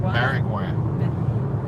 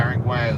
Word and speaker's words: Maringouin: I'm pronouncing it wrong. Maringouin. Yeah. Maringouin is a Cajun French word for mosquito.